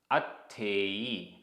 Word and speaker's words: अत्थेयी: णिच्च अत्थेयी आधा त थ।